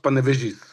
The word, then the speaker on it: Panevėžys: It's pronounced Panevėžys in Lithuanian.